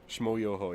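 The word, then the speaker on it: Schmoyoho: Shmoyoho? Shmoyoho, yeah. That's how you pronounce that.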